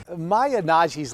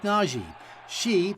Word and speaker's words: Nnaji: Nnaji's last name might sound familiar to Wildcat fans. It's spelled Nnaji, and she might actually become the real Dr.